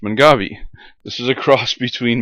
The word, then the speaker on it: Mangave: garden i said what in the world is a man gave it's pronounced mongavi this is a cross between manfreda maculosa which